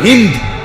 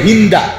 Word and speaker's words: হিন্দ: যে নারীর নাম হলো হিন্দ, আমাদের দেশের উচ্চারণে বলে হিন্দা, যাই হোক মূলত হলো হিন্দ, আকারটা নাই আর কি, কিন্তু এটা উচ্চারণের একটা ভুল, হিন্দা বলে ফেলে।